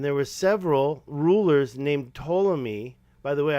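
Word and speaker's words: Ptolemy: was there a king toomy and he said yes there was and there were several rulers named toomi by the way I'm assuming that the p is silent but I said well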